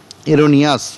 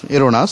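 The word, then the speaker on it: erroneous: দেখুন প্রথমটা এই অপশানে বলছে কি, এরোনাস, এরোনিয়াস, এরোনাস উচ্চারণ হয়, এরোনাস মানে হচ্ছে ভুল করে, ভুলবশত, ফলটি, ফলটি মানেও ভুল, তাহলে এ দুটো সমর্থক হলো, বিপরীত কিন্তু হলো না।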